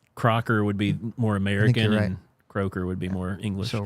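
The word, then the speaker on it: Croker: name was Crocker uh does it say CER I I think it's kroer cuz it sounds like an English name c r o k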